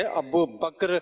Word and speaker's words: ابو بکر: لوگ کچھ بولتے ہیں، صحیح تلفظ ہے ابو بکر رضی اللہ تعالی عنہ، آخر کا کاف اور را دونوں ساکن ہیں۔ میں بیسیکلی کے پی